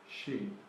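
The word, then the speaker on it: 十: So the pronunciation is She. the ship. Is the hint for the pronunciation. Right. And then because of the fox, it goes up, so it's a little bit like a question.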